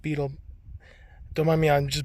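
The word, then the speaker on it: butyl: I use beetle tape, which is B-E-T-Y-L, so I don't know why it's pronounced beetle.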